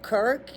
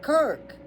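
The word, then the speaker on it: Krk: Um, and then Kirk, K R K, the co the largest population,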